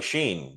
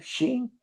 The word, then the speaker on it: Sheen: Charlie Sheen was his agent was given an offer to play Jasper. I heard of him. Charlie, what's his name? Sheen.